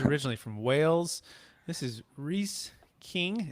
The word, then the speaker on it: Rhys: And again, it's making sorry to pronounce it right. It's Rhys, right?